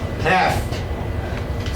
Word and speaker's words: half: Half. See the L? Yeah. You see it, but don't hear it. Half. Half. No L sign. L sign. L is silent.